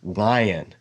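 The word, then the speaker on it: עין: about pronouncing it because it's pronounced at the very back of your throat lion lion like you have to close your throat but make a sound through that closed throat it's a very weird sound but you get a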